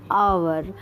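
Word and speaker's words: hour: सो यहाँ पे आवर की स्पेलिंग एच से स्टार्ट होती है, लेकिन एच साइलेंस होता है और ओ का यहाँ पे प्रेशर बनता है, ओ का यहाँ पे साउंड प्रोड्यूस होता है ओ की तरह, है ना, ओवर की तरह, है ना।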